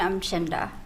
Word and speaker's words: Umchinda: I'm Chinda. Will you spell that, please?